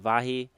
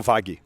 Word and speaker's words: Vaghi: It's Vaghi. Is there actually a G sound there? Is it Vaghi or is it Vahi? No, Vaghi.